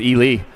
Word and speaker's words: Ely: Looks like Eli, but it's pronounced Ely.